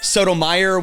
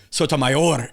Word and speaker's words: Sotomayor: i remember that was sotomayer was a hot dog sotomayor is a supreme court oh my god no